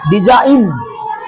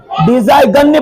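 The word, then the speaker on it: design: नहीं क्या पढ़ेंगे इसको डिजाइन है नहीं डिजाइन इसको क्या पढ़ेंगे डिजा गन पढ़े कि सर डिजा गन डिजाइन डिजा इन जी को उच्चारण नहीं होगा डिजाइन आर ई एस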